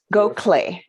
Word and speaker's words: Gokhale: e method dot com go clay is how it's pronounced but it's not it's not phonetic right now if people